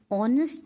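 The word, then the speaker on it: honest: क्या काशी इ dash ऑनेस्ट police officer देखिए एच तो वल नहीं है बट इसकी साउंड क्या आ रही है ऑनेस्ट एच इसमें साइलेंट है तो इसलिए क्या आएगा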